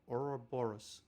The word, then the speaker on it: Ouroboros: world's going to be called, if I can pronounce this, Ouroboros.